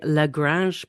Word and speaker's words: Lagrange: review of episode 509 of Star Trek Discovery L Grange point I checked the pronunciation after I heard Telly say it and